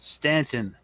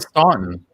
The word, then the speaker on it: Staunton: sovereign citizens, but also to say it's pronounced Stanton. I stand corrected. Thank you. Akira 808. I always call it Staunton. I don't know. Whatever. Apparently you're wrong.